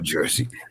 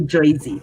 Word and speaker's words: Jersey: From New Jersey. New Jersey. You see, they call it Jersey. They don't call it Jersey. They don't pronounce R's in New Jersey.